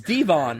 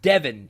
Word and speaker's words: Devon: It is a French pronunciation, like de Soto. So, phonetically, it is Devon, not Devon.